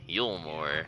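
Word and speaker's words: Eulmore: Elmore is that how you say it Yore yulore okay yulore listen to your pronunciation I don't know how to say these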